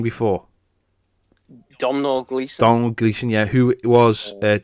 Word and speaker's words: Domhnall Gleeson: Now, how did you pronounce his name before? Domhnall Gleeson.